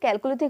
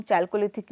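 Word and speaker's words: Chalcolithic: पता होना चाहिए कि कैलकोलिथिक मतलब क्या होता है। तो कैलकोलिथिक मतलब होता है, फिर जिसको हम चैल्कोलिथिक भी बोल सकते हैं, जो भी प्रोनाउंसिएशन है, तो इसका मतलब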